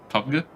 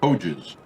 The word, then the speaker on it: PUBG: Yeah, Is that how you pronounce it? PUBG. You said Poges.